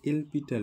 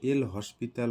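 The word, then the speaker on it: L'Hôpital: এলপিটাল, তো আমরা এলপিটাল বললে কেমন হয়, এল হসপিটাল অনেকে বলে, তো এলপিটাল অ্যাকচুয়ালি উচ্চারণ করতে লাগে। তো এখানে দেখো হসপিটাল বলেও তোমরা উচ্চারণ করতে পারো, কোনো অসুবিধা নেই।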